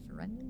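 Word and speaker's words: Ferendn: Noble House foren family how do I spell that uh f e r e n d n forend yes how it sounds phonetically cool I got it right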